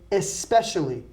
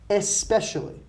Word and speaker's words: especially: focus on the pronunciation here we say especially and this is one of the few words that we add an e before the S especially we say special there's no either we don't say especial okay you are a special